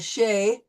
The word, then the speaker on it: chez: We use this, we've adopted it into English, and chez, and we don't use the Z in the English version either.